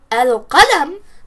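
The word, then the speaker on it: القلم: Rather, the right way of saying qalam is al-qalam because we're not hiding the lam and we're not stressing the qaf.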